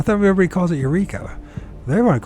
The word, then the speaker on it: Eureka: want to call it wika is it wika or Eureka California I think it's Eureka isn't it I thought we everybody calls it Eureka they want to call